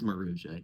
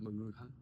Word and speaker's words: Maruja: It is Maruja. Yeah, not Mara.